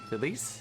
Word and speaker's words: Felice: Felice? It's basically Phyllis. I heard someone mispronounce Phyllis. I thought that's a good name.